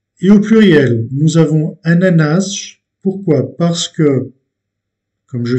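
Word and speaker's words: ananás: termine en S, mais c'est un mot également où l'accentuation est faite sur la dernière syllabe. Ananas, ananas.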